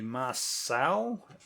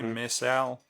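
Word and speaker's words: Mareșal: new tank called the marcel m-a-r-e-s-a-l i don't know how they would pronounce that correctly missile it was very similar look it was very much more triangular i think it's maricel there you go yeah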